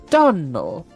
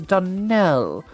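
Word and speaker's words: Donnell: Clarice Almir told me that you pronounced our name Donel. Now, Miss Shirley, the correct pronunciation of our name is Donell, accent on the last syllable.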